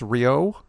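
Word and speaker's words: Rioux: Oliver, I think it's Rio. That's how you pronounce it.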